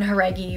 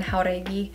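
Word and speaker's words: Jauregui: know like you know her name is Lauren her eggy but I've been watching interviews of her lately and she's been saying Lauren how tidy which is obviously the way to pronounce her last name so I'm just trying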